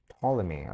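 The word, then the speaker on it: Ptolemy: It's polyamy. Okay, so the P is silent.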